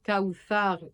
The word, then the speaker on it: Kawthar: Parce que le tha de Kawthar et Kalthum, c'est le TH en anglais de three.